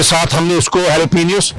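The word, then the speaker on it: jalapeños: Mushroom के साथ हमने उसको हैलोपिनियोस, जिसे पाकिस्तान में जैलोपिनियो भी कहते हैं क्योंकि वो उसके साथ जे लगा शुरू में, प्रोनाउंसिएशन में ये हैलोपिनियोस है।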